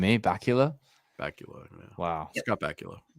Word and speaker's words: Bakula: Bakula. Yeah. Wow. Scott Bakula. Bakula. Bacula. Like Count Chocula. Kind of like Dracula.